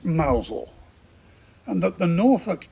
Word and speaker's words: Mousehole: guess that the Cornish small fishing Village of mousehole is actually pronounced mausole and that the Norfolk accent converts their town